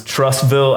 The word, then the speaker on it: Trussville: So you're from, and don't let me mispronounce this, Trussville, Alabama.